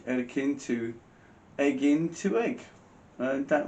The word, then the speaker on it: Erkin: So it went from Erkin, yeah, which is how it's pronounced in Turkish, Erkin, to Eggin to Egg.